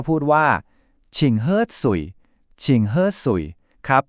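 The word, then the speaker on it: 请喝水: นาม ให้ หน่อย เนอะ เรา ก็ พูด ว่า ฉิ่ง เฮ้อ สุ่ย ชิงเฮ้อ สุ่ย ครับ ก็ คือ เชิญ ดื่ม น้ำ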